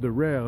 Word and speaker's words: Daryl: Spelled Daryl, but it's pronounced Darrell, know what I mean?